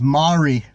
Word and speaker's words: Mari: Her name is Mari. And I said, how am I going to remember that? And she said, it rhymes with sorry.